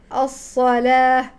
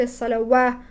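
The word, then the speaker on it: الصلاة: الصاد الصلاه ويؤتوا الزكاه الواو في الصلاه والواو في الزكاه يكتب لكنه لا ينطق هكذا تكتبها العرب لكنها لا تنطقها لا تقول الصلوات ولا الزكواه انما فوقها الف صغيره فتعرفي انها الف ليست واو وذلك دين القيم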